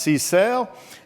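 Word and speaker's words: CSAIL: She's director of MIT's computer science and artificial intelligence laboratory, pronounced cale, and has co-founded three other companies.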